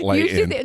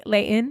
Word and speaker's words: Layton: You pronounce Layton correctly. That's because good. You can tell you're from California. I like that. It's not Layton. My kids. It's Layton. So no, this is what's so funny.